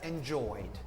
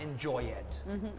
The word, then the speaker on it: enjoyed: Whereas a word that doesn't end in a D or T sound, we don't pronounce the E, and we have enjoyed, not enjoyed.